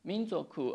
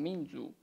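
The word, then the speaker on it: 民族: Donc, minzoku, un caractère, c'est comme ça. Et puis, on utilise aussi les mêmes deux caractères, mais on prononce d'une façon différente. On prononce comme minzu.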